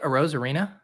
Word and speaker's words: Arozarena: How do you say it? Arozarena? Oh yeah, perfect. Yep. Yeah, just Nailed like it sounds.